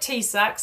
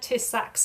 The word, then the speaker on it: TISAX: it tisac or I call it t-sac. I've heard tacs as well, right? But is as you said, it's known as well it's known as t-sac which is trusted information security assessment exchange.